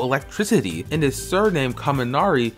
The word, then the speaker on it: Kaminari: City and his surname kaminari is pronounced the same way as the Japanese word for Thunder when compared to most